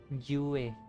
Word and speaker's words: Jue: वैसे होंगलॉन्ग है उस कंट्री का नाम, उसमें जिंजो एक सिटी है, वहाँ का गॉड सेंटिनल, एस स्पेलिंग में उसका सेंटिनल है जुए, JUE नाम है उसका, जुए।